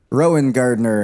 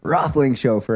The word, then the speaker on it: Roethlingshoefer: But it's like all the mispronunciations of my name. So, Rowan Gardner and and and then I finish it with Rothling Chauffeer.